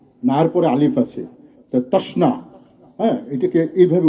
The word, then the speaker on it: তশ্না: সাথে এডজাস্ট করে না এর পরে আলিফ আছে তাসনা এটাকে এইভাবে উচ্চারণ করতে হয় আমি কথা বাড়াচ্ছি না আসলে